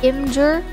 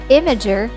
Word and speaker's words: Imgur: usually pronounce this as inger or imgur but the word image we got to pronounce it as imager or say the word image er imager ubuntu a popular linux